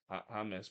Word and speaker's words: James: But yeah, in this play, I'm pretty sure it's it's pronounced Jameus because it's a he it's a it's a it's supposed to be kind of a Hispanic pronunciation, but at least in